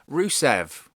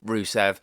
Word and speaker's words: Rusev: rusev where does rusev go next i would do the whole roll the rs rusev sort of thing like lana did when she says his name unfortunately i can't roll